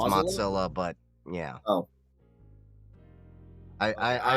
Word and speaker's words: Mozilla: it anyway so here wait that's how you pronounce it well technically it's Mozilla but yeah oh I I I just have